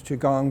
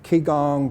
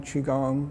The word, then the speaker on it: Qigong: can do it and it's chigong breathing okay and it's spelled q i um g-o-n-g all right english spelling would be c-h-i-g-o-n-g so you may see it key gong qigong okay it's uh breathing